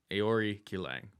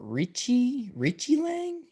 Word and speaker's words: Aoriqileng: I know it says Kileng Aori on the board, but I believe Mongolian, that's how they say it. Aoriqileng.